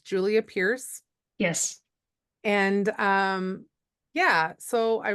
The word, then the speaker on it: Julia Pearce: And so just double checking that it's Julia Pearce.